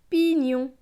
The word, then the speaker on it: pignon: Donc ce mot va se lire pi, nion, pignon, le pignon.